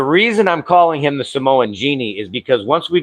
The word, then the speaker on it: Samoa: That's how they say it, by the way. Samoa. It's not Samoa. It's Samoa.